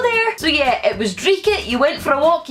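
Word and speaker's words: dreich: faves, and that is dreeket. I tend not to say it rolling my R's, but some other people who say it might pronounce it dreeket. I say dreeket rather than dreeket.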